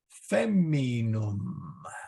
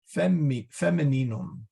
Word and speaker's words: femininum: Feminum. Okay. Femininum. I got to get an extra syllable in there.